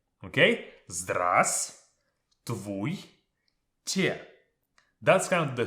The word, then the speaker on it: Здравствуйте: First things first, this letter V is not pronounced. We don't say Здравствуйте. We say Здравствуйте. Okay? Здравствуйте.